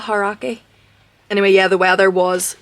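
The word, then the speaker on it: Aoraki: Arake. But I think it's kind of got a H sound as well, Harake.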